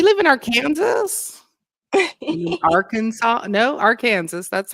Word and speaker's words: Arkansas: No, Arkansas. That's how it's properly pronounced.